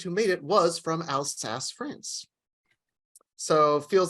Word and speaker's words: Alsace: I didn't know that the designer of the Statue of Liberty was from Alsatia. Is that what it is? Alsace is how I've always heard it pronounced. Alsace.